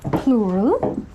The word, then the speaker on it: plural: And I've heard a lot of people make a mistake here and actually call out this word as plural, which rhymes with floral and which is oh so not correct.